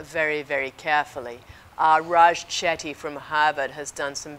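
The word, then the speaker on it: Chetty: looked at uh very very carefully uh Raj chaty from Harvard has done some very interesting work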